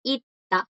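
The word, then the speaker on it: 있다: Ita es porque hay dos S abajo. Una S no suena porque le sigue la consonante. La otra S va a sonar como D porque está como bachim y le sigue una consonante. Entonces no suena, suena como una D, ita.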